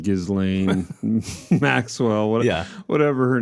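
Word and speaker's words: Ghislaine: can't be known but Jizlane Gizlane Maxwell whatever her name is I think you just ignore the s I think it's just galain galain you know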